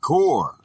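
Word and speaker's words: כּוּר: The word is kur, pronounced core, a primitive root, to trench, by implying to throw forth.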